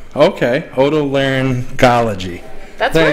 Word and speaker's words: otolaryngology: Otolaryngology. Oto means like ear. Okay. Otolaryngology.